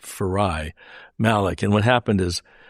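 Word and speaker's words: Farayi: Yeah, her name's actually pronounced Farai. It's spelled f a r a y i, but it's pronounced Farai Malleck.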